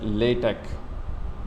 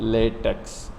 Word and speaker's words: LaTeX: गौर से देखें कि इस लेटेक is pronounced as लेटेक नॉट लेटेक्स। इसको लिखा ला टेक्स जाता है लेकिन इसको प्रोनाउंसिएशन में लेटेक कहते हैं।